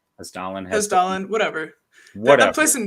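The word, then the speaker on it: Hessdalen: Yeah, Hestelin. Say that wrong? No, you said it right. Hestelin, whatever.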